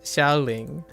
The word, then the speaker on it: Xiaoling: So I pronounce it like Xiao. Yeah, Xiaoling.